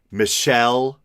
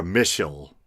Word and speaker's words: Michel: ass out of myself, I actually hunted around for the proper pronunciation, and the closest I could come is that either Michel or Michel were both acceptable. I would have gone with Mitchell or something like that,